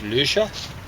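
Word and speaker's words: Lüscher: So, yeah, the uh you know, the according to the color test written by Max Luscher, or Luscher as people mispronounce it in English contexts.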